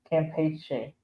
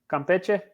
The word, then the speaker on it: Campeche: Campeche. Campeche.